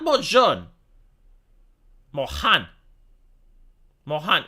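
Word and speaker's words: Neal Mohan: now not by John Mohan Mohan if you can't pronounce Mohan although I don't know why you wouldn't it's Neil like Neil Armstrong right Neil Mohan we will have a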